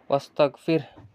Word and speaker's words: واستغفره: ওয়াস্তাগ ফির, হাফেশ হু, ওয়াস্তাগ ফির, যদি থামি হাটা উচ্চারণ হবে ওয়াস্তাগ ফির, এইভাবে।